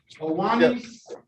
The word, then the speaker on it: Ohanye: Ohanye, is that correct pronunciation? Owani? Yes, Judge.